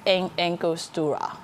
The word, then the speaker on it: Angostura: 佢呢個咧寫住 Angostura， A N G O S T U R A，喺 Trinity 嚟嘅南美洲啲島。